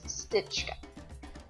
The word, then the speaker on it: Stichka: My second great-grandfather, his last name was Stichka. That's how it's pronounced in my family today. And it was spelled Stichka. Stichka. As an English speaker, it makes perfect sense.